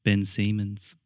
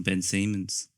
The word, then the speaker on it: Ben Simmons: the um NBA player his name was um pronounced Ben Simmons why yeah I always sort of oh totally been some inside oh because I've never heard anyone say his name I thought it was on Ben Siemens let's um that was good I think there's